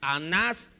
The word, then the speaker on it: Anás: 26 57 a nash no es anás y caifás es anás y caifás llevan acento ambos en la última sílaba anas era la mente